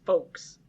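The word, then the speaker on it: Foxe: I feel like it changes the way you pronounce it. It's folks. No.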